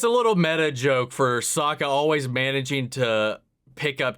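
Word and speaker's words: Sokka: you you lost no my name's Saka rhymes with aa aa and waka waka what that's the second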